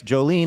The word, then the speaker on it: Jolene: That's Jolene, like the song.